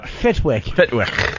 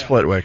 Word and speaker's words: Flitwick: Fitwick.